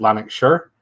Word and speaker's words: Lanarkshire: I'm from just outside Glasgow, in a place called Lanarkshire, but we pronounce it Lanarkshire.